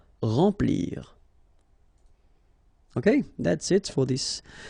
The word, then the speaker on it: remplir: Okay, M nasal, remplir.